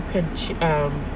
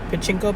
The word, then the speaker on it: Pachinko: But I was listening to Pachinko. That's how you say it. Pachinko by Min Jin Lee.